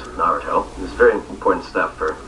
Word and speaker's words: Naruto: noo which was to refer to as Naruto which I've learned is wrong it's Naruto this very important stuff